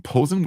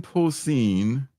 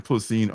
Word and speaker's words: Posehn: I'm calling him Posen, which is wrong. So let's take care of that and and not do that again. Wrong. Exactly. Brian Posehn.